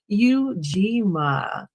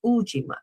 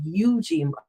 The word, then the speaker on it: Ujima: And your response should be Eugima. Eugima or how some may pronounce it Ujima. I like to pronounce the U because I want me to be present in everything. So the Yujima um versus the UIA.